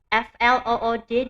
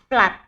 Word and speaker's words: flood: FLOOD dibaca bukan flood bacanya ya, tetapi flat ya. dua O kok dibaca A, ya memang seperti itu.